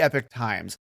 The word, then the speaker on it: Epoch Times: you won't get anywhere else this is The Epic Times and on the surface there are an extremely right-wing conservative newspaper and on the surface it would be pronounced Epoch times CU that's the way it's spelled but they